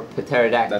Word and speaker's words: pterodactyl: You don't pronounce the P either. Or the P. It's just aerodactyl.